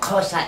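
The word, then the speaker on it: Xhosa: click in the language casa is spelled with an X and the X is pronounced similar to how you puts on your horse and over to the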